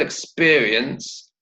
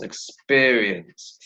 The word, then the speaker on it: experience: Okay, so notice the word experience. How many syllables? Experience. 3 syllables, and the stress is on the second syllable. So it's experience. Can you say that?